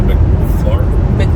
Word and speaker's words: McLaren: It's a McLaren? Yeah. We saw them in the Philly car show. That's how you pronounce it.